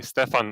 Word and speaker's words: Stjepan: But for those of you who have trouble with that, you can just say Stefan or a version of that.